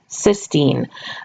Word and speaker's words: cysteine: cysteine just a note all of these terms like the names of the different nitrogen bases or the names of these amino acids all tender rhyme with the word scene or team so for example you